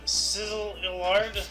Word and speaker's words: Szilard: Szilard. I just wanted to hear you say it. Liard. I don't know Liard. how to pronounce those two letters. Those two letters don't belong next to each other. Sizzliard.